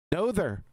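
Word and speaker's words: Noether: Didn't they call him Natherther? Emmy Natherther. How do you pronounce her name? Who cares? Time of them. Nother.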